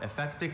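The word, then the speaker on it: ephectic: German philosopher Friedrich Nichze had little patience for effectic strains of pyist philosophy can you repeat the pronunciations effectic also effectic think it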